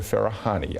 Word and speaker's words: Farahany: We will say Farahany. That's perfect.